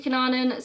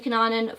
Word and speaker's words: Cunanan: case of Andrew Cunanan I'm gonna say Andrew Cunanan some different documentaries and news reports pronounced dick Coonan or Cunanan so I recently watched American